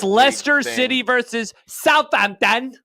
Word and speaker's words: Leicester: I'm gonna pick Leicester, but I'm gonna call them Leicester because that's how it should be pronounced. Leicester.